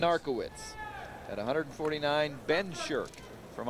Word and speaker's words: Narkiewicz: versus just dark woods you better pronounce that one uncle wits that's looking the press guide there maybe they have pronunciation ARCA wits at 149 been shirt from Iowa narka wits from Penn State shot